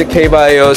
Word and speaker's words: K Bio: it kbi IO Solutions is it kbio how do how do I pronounce it we go by K bio Solutions K bio so we are the number